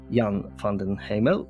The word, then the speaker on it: Jan van den Hemel: super excited to have young fondant Hamill and what am I pronouncing that yes yes perfect that's great I'm not